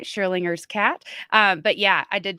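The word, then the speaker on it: Schrödinger: And I finally learned how to say it right, Schrodinger's cat.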